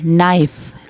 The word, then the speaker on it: knife: आपको पता है K और N की क्या साउंड होती है, K और N जो है जब मिलते हैं तो N K साइलेंट हो जाता है, हम N की साउंड निकालते हैं।